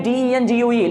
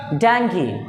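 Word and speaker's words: dengue: इसकी स्पेलिंग होती है डेंगू लेकिन इसको पढ़ते हैं जाएंगी डांगी डांगी डेंगू कभी भी नहीं पढ़ते हैं अगला किसी मॉल वगैरा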